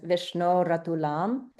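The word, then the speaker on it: विष्णोरतुलम्: So technically in the middle of this line it would be vishno atulam uh which gets uh joined by si as vishno ratulam.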